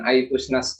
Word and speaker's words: iPusnas: E-book iPusnas, iPusnas ya, bukan iPusnas. Nah, sama, kita membacanya seperti yang ada di tulisan iPusnas.